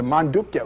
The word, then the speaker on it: Mandukya: of of God om is discussed in the mandukya upad there's a very interesting two-page upad m